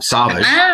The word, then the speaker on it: Sowash: pronouncing that correct Sage yes it's actually French it was Sage oh really um saage yes and when we